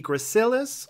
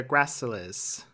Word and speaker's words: gracilis: We're moving on to the third muscle on our list, the , also known sometimes as the .